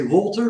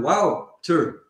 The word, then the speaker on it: Wouter: Mostly they say Walter, but it's wow. It's like you say wow, and then Wouter. Yeah, Wouter. You know? Yeah. Yeah, and that's the way to pronounce it.